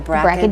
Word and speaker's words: BRCA: Another household word, but we don't always understand it, is, am I saying it right, BRCA? Yeah, the BRCA gene.